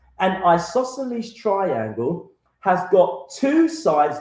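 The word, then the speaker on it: isosceles: It's called an isosles. Isoselles. I'm going to spell it for you.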